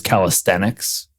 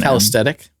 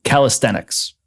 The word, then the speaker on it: calisthenics: I feel like I should tell you briefly that it that it is calisthenics that calesthetic calis calisthenics.